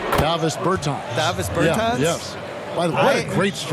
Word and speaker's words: Davis Bertans: Oh, well, now, at this point in my life, it's Davis Bertans. Is that how you say his name? Davis Bertans. Davis Bertans?